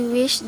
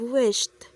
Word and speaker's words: wished: the fireworks display he wished that his family was also there she said wish instead of wished witnessed what he saw